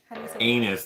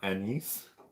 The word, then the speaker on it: anise: people are n's n-a-n-i-s-e anus that's exactly what this tastes like i don't think that's how you say it anise that's how bored says